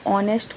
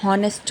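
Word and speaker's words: honest: बहुत लोग ऑनेस्ट को हॉनेस्ट पढ़ते हैं। इट्स नॉट होनेस्ट। इस इट्स ऑनेस्ट। यानी कि पहला जो एच है वह साइलेंट है। तो हम उसको प्रोनंसिएट कहां से करेंगे? ओ से करेंगे। एच से नहीं करना है ऑनेस्ट।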